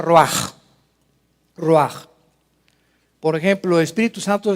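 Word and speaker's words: רוח: Roach se pronuncia roaj.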